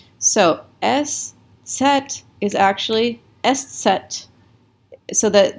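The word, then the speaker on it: Eszett: de afk etc right so the way that you pronounce these are s and set it's kind of like zed in um i think in british english they'll say zed and so this is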